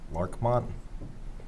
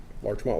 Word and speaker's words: Larchmont: It was 2014 Southwest I hope I pronounced it right. Larkmont Larchmont Lane.